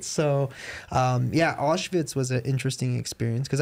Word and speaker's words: Auschwitz: think we went to Auschwitz um how do you pronounce itz is typically pronounced with a v yeah how do you